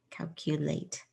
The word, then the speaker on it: calculate: Cow, Q with a long U sound right here, and then late. Calculate.